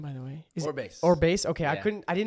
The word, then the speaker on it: Orbase: Orbase. Orbase. Okay, Yeah. I didn't know if it was Orbase or Orbase. Orbase, they'd probably say it like that in the Philippines.